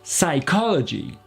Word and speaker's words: psychology: le film d'hitchcock psychose ça rigole ça donnera psychology psychology 5 i-twist psychiatry est sarko analysis sicko